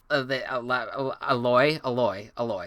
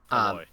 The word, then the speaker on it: Aloy: I always forget how to pronounce this one. Who? Aloy. That's it. Aloy.